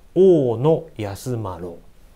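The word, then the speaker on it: 太安万侶: 編纂した人は待ってるから太安万侶というかですねはいこれ一文字で oo のと呼びます太安万侶それからえっちょ日本ショッピを編纂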